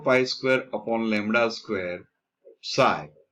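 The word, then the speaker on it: ψ: Original Greeks pronounce this as psi, we also pronounce this as psi.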